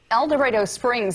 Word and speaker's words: Dorado Springs: Trust me, I pronounced that right. DORADO Springs. For DORADO Springs. DORADO Springs. Residents do not like it when you pronounce it like El Dorado.